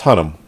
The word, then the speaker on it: Hunnam: I forget how they pronounce it. It's Hunnam.